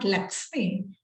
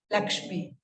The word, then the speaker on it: Lakshmi: in my name uh this is not luxem Lakshmi s h so uh this pronunciation